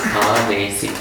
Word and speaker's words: anesi: Anesi. A with long A. N-E-S-I. So the full sentence then is Adhipati Girimha Sihang Anesi. Any other way to put it? Adhipati Girimha Sihang Anesi.